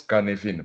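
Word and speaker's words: Cynefin: Donc c'est écrit Sinéphin, ça se prononce Kanevine parce que son inventeur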